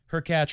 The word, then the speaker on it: Hurkacz: Fourth round, where Djokovic did lose last year, Wawrinka, Hurkacz rhymes with Latch, and big Kevin Anderson.